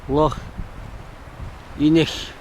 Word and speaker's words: Rothiemurchus: Rothiemurchus is the way I would pronounce it.